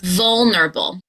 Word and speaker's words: vulnerable: Let's vulnerable. There are 4 syllables, and the stress will be on vul.